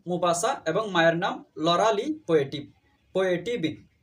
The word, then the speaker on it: Maupassant: তার পুরো নাম হচ্ছে অনেক লম্বা, হেনরি রেনরি আলবার্ট গি দা মুপাসান্ট। এই মুপাসান্ট বা মুপাসা বাংলার মধ্যে এই নামের বানানটা পরীক্ষার মধ্যে আসে, ঢাকা বিশ্ববিদ্যালয়ে একবার এসেছিল। সেটা হচ্ছে MAUPASSANT, মুপাসা। MAUPASSANT, মুপাসা।